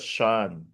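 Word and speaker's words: shen: He pronounce it as Shan. Yeah. Sh H E N.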